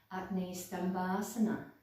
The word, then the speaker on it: Agni: so and then basically i think the correct pronunciation for this name in sanskrit is acne i believe acne means